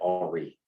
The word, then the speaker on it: Henri: Henry Becquerel, well, he was French, so we pronounce that Henri, characterized radiation in one of three different forms.